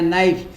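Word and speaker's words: knife: जैसे नाइफ में के एन एफ आई एफ ई नाइफ लिखते हैं। पढ़ते हैं नाइफ। के साइलेंट रहता है।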